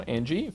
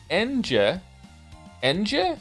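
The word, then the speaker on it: Ange: time all time now Angie favorite character of all time really I'm here to tell you her name is pronounced en Ena feel free to ignore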